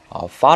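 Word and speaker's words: فاء: 대해서 한번 알아보겠습니다 이 잠은 빠 라고 부르고 요 영화 알파벳의 f 발음 과 유사합니다 4 먼저 독립형 을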